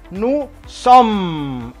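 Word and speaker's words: nous sommes: Nu som, S di ujung tidak bunyi, maka nu som.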